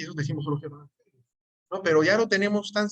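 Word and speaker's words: εὐαγγέλιον: la letra V, y cuando hay dos gamas juntas, que es la G, pues en realidad la primera G cambia por una N y se pronuncia evangelion.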